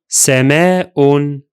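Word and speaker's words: سماء: What if we mark it with, say, tanween dhamma, since the word is indefinite? It will be pronounced like that. Sama'un, Sama'un, Sama'un. Both the vowel and the glottal stop are still there in addition of the noon sound of the tanween.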